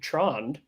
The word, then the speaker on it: hund: It's Hund. Thank you. It's Norwegian.